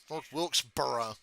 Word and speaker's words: North Wilkesboro: There's no L in borough. It's not borough. North Wilkesboro.